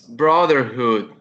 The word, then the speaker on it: brotherhood: next the next word it's brotherhood and this word have three syllables on the on the stress in the first in the first one brotherhood excellent very well done very